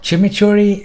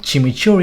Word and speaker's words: chimichurri: nguyên liệu địa phương, cái tên chimichurri lấy theo tên của người này tên là Jimmy McCurry trong cách phát âm của người Argentina, hóa ra nó nghe giống như chimichurri, hãy xem tất cả